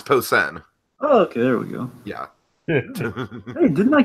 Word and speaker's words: Posehn: tell Jacob and drag him out there the pronunciation thing er yeah it's Posehn ok didn't I call that one anyways um